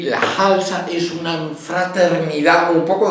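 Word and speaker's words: Khalsa: Esta sí que va con una KH a lo árabe, se pronuncia Halsa.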